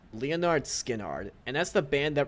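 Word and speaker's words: Lynyrd Skynyrd: It's pronounced Leonard Skinnard, and that's the band that wrote Oh.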